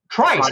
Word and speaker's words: Trice: We've now decided that is indeed the pronunciation of Trice. Trice.